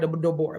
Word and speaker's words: Deborah: It is spelled like Deborah, but it's not. It's Deborah.